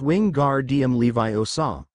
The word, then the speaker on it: Wingardium Leviosa: by a shrill voice you're saying it wrong it's Wing guard DM Levi OA no Granger chimed in